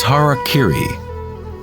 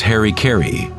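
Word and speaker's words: hara-kiri: one form of ritual suicide or seppuku was harakiri was often mispronounced as Harry Caray it means to impale one's Hara thereby cutting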